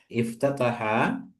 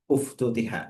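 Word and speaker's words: أُفتُتِحَت: Berarti pasnya afwan itu berarti pasnya bacanya itu bukan iftataha tapi uftutiha ya.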